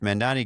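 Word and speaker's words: Mamdani: But I can tell you one thing for for for sure is that Mendani, if Mandani gets is that how we pronounce his name?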